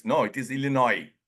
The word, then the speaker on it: Illinois: seen many people pronounce Illinois no it is Illinois s is silent other one yes Des